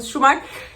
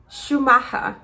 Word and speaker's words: Schumacher: que nós conhecemos, o Schumacher, Então, nós falando Schumacher, e eu vi que ela não entendeu, e quando ela entendeu, ela falou da forma que eles pronunciam em alemão. Vamos tentar. Cláudia, please don't laugh. Michael Schumacher.